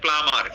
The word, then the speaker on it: plumber: We dash the, এটা অনেকে বলবেন প্লাম্বার, এটা প্লাম্বার না, উচ্চারণটা হচ্ছে প্লামার।